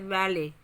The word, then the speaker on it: valet: Letters means A B C D का कोई letter, जैसे valet. Valet में T silent है.